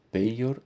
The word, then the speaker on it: peior: for usar aí a a pronúncia tradicional seria peor e peios maior e maios e não pronunciado como j já um outro adjetivo